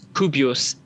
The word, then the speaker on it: Kubios: um if we uh it's kubios k kilo uniform bravo india oscar sierra fubios and then you said